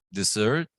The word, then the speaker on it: dessert: Como pensar que como lleva el acento al final, dessert, y pues también se pronuncia un poquito diferente acá, dessert.